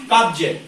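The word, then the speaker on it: cubs: ठीक है ना, तो यहाँ भी बी के बाद क्या आया, एस, तो हम इसको क्या पढ़ेंगे, जा, कब्ज। नहीं तो अगर हमको नियम पता नहीं तो हम क्या आ रहा, साधारण जो हमको मालूम है वो कब्ज से पढ़ लेंगे। क्या पढ़ लेंगे, कब्ज से। और अगर हमको नियम पता है यदि कि बी के बाद ऐसा आ रहा है तो वहां जा का उच्चारण होगा, तो हमने क्या पढ़ा, कब्ज।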